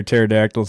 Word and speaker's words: pterodactyls: come we can't hear pterodactyls in the bathroom because the p is silent that's right